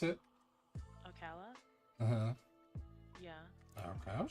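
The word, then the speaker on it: Ocala: so here we go is that how you pronounce it oala uhu yeah okay I was just making sure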